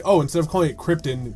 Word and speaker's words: Krypton: his home planet right it's Krypton not Krypton it's like this is not an element that's an alien planet yeah yeah like that's